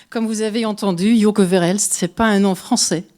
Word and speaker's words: Verhelst: Et pour en parler, je vous prie d'accueillir chaleureusement celle qui les a conçues et réalisées, l'artiste Joke Verhelst.